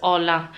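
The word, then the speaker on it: hola: they pronounce it as aa the H is silent for them so Once they say aa that is a greeting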